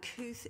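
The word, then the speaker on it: Kooth: Kuth is an online children's mental health resource. It's spelt K-O-O-T-H, so you can find it by Googling.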